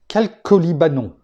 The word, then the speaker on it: chalcolibanon: Eh bien, ça vient du nom grec chalcolibanon. Je sais que je le prononce à peu près bien parce que j'ai regardé comment ça se prononçait.